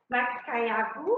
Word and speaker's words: Makayabu: Can you tell us the correct pronunciation for the name of this dish? What do you call it? It's Makayabu?